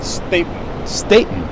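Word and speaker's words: steinn: So stone looks like German Stein, right? Although with an extra N, S-T-E-I-N-N. Staten. Yeah. Okay. Staten. That's one of those ones that can make you sound like an idiot to a native really quickly. Potentially. Although it is stain if it's accusative.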